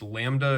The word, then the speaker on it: lambda: It's pronounced lambda, and it's the Greek letter.